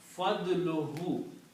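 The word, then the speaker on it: فضله: So when you combine, this will become fadluhu. Because when you combine a noun and a pronoun, only one dhamma is pronounced.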